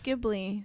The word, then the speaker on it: Ghibli: because I actually don't know how it's pronounced. No, it's Ghibli.